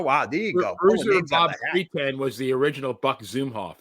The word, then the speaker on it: Sweetan: Not Bruiser Bob Sweden, but Bruiser Bob Sweeten. I don't know who the announcer was. Steve Stack. Steve. Oh, wow. There you go. Bob Sweeten was the original Buck